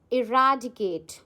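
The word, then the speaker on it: eradicate: सो, our next word is इराडिकेट। इराडिकेट guys इसको आप pronounce करो पहले। इट्स इरेडिकेट। ठीक है?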